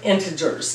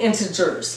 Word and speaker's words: integers: comparing and ordering integers now I say integers my sister says integers and I really thought it was kind of dumb I thought she was mispronouncing it and it was very embarrassing that my sister was saying integers when it's integers but then I found out it's an alternate pronunciation maybe it's British maybe she had a